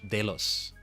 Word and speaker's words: Delos: Only Only Clint and Delos are left. Um, or dos, but I'm pronouncing it in Spanish. Delos.